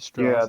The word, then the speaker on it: Straß: It's Strass. You pronounce it Strass.